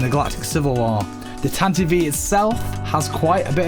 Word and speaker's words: Tantive: The name TANTIVE is pronounced as such as it's based on the word TANTIVE, which means to ride